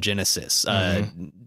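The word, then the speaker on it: Genesys: So there's a generic version of that now called Genesis, like spelled with a Y-S at the end.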